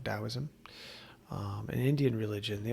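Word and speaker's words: Taoism: of confucious Confucianism uh dosm uh spelled with a t t the to dosm um an Indian religion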